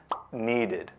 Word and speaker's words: needed: Congratulations to those who chose needed. Need ends with the d sound, so the ed is pronounced id.